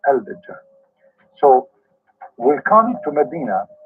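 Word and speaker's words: الدجال: You see in the English, they don't even write it right. They say Al-Dajjal because in Arabic here there's L, but they are trying to supposedly to teach you how to pronounce it. So Ad-Dajjal, they make it shorter. But the fact it is Al-Dajjal.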